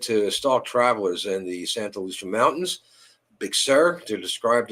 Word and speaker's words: Santa Lucia: Uh, dark watchers, Santa Lucia mountains or Santa Lucia if you want to pronounce it correctly.